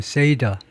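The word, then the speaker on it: Seder: 세드 쏘리세가 아니고 영어를 이제 세이드라고 발음하네 say이드 세이들 세이더세이드가 아니고 세이더 정도인데 say이더 aal ceral dinner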